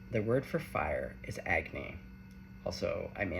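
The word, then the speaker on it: agni: In Sanskrit, the word for fire is agy. Also, I may not be pronouncing it correctly.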